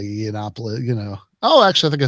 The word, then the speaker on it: Yiannopoulos: I still I know every time I say Yiannopoulos, oh, actually I think I said it right that time.